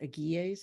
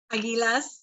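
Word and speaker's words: Águilas: of the desert called the I believe it's pronounced agies is that correct Aguilas yeah thank you and then and then you've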